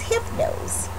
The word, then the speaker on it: Hypnose: cap that says Hypno's the Y is silent so the name of its Hypno's and you just pop